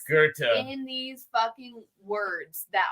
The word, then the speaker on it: Goethe: We have a and street called you have Gothi that's so many technically pronounced Goethe.